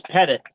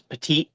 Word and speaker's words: Pettit: It's Pettit. The French version that everybody uses is Pettit, but we're not French anymore, so it's Pettit.